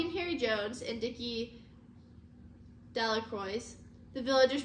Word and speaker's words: Delacroix: of stones Bobby and Harry Jones and Dicky delacroix the villagers pronounced his name delacroix eventually made it a great pile of stones